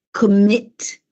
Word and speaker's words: commit: Quindi admit, commit, sentite che c'è questo accento che cade, questo stress on the second syllable, in quel caso si raddoppia.